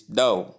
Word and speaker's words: dough: The right pronunciation has been given which is do and not do or da or daf. Sentence. Let the dough rise before baking. Notes. The gh is silent.